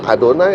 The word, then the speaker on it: Adonai: ini dalam bahasa Ibrani saya mefora bacanya bukan Yahweh bukan yova adonai atau hasem sudah dari sana aturannya